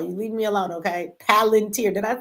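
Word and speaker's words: Palantir: PL man said palenteer.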